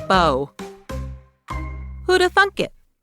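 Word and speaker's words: beau: But don't get me started on people using boo to refer to their loved one. The first person to do that most likely just didn't know how to pronounce the French word bow.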